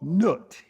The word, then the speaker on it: Nut: The earth represents a male principle called Geb, G E B and the sky represents a female principle or feminine principle called Nut, N U T.